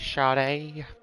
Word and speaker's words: Sade: Say his name right, man. It's Sade.